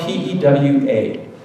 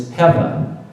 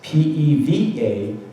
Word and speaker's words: pewa: And Kelly educated us all and said that the correct pronunciation is Peva. So it's P-E-V-A is how you pronounce it.